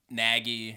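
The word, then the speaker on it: Nagy: them and i think naggy that's how you pronounce his name right yeah he he has that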